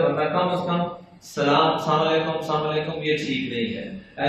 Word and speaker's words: السلام علیکم: السلام علیکم۔ اس کا مطلب ہے تم پر موت ہو، تمہاری تباہی بربادی ہو۔ اس لیے سلام کا لفظ صحیح تلفظ سے ادا کرنا چاہیے، السلام علیکم۔ کیا لفظ ہے جی؟